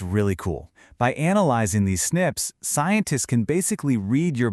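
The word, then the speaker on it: SNPs: We call them snips, which is pronounced snips.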